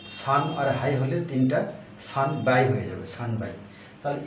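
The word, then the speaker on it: 三杯: যদি 3টা হয় তাহলে এখানে সান যোগ হাই, তাহলে 9 এবং হাই, 9 এবং হ যোগ হয়ে এটা ব হয়ে যাবে, সান বাই, এটা স্পেশাল সান বাই।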